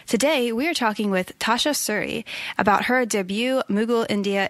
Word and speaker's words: Tasha Suri: actually just to make sure that I am pronouncing your name correctly because that is important is it Tasha Suri am I saying that right yes that's perfectly